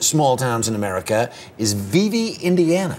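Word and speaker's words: Vevay: towns in America is Viv Indiana Vib you pronounced it right that's how the locals say it um so Vib Indiana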